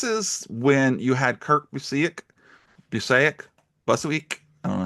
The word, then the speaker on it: Busiek: Now, this is when you had Kurt Busiek, I don't know how you're going to say it, and I George think he Perez. pronounces it Busick.